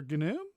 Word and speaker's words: gnu: answer it is but it's a silent g it's it's what silent g for gnu the news that i